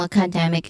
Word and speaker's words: academic: So, we focus on the word academic, which has a stressed syllable on the third one, dem, which has a short s sound. So in has a short e sound, and then academic and terms.